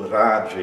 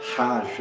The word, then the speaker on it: Raja: Ou raja. Raja. Raja significa régio ou real, faz parte do nome de um tipo de yoga, o Raja Yoga, e não é Raja Yoga, é Raja Yoga.